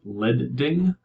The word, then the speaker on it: leading: the same paragraph notice it's pronounced lead ding like the metal lead or lead zeppelin here's an example of